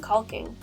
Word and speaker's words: caulking: And I'm going to be using average household silicone caulking, like what you would use in a shower or on tile. And by the way, I hate that word. I always make sure to pronounce the L.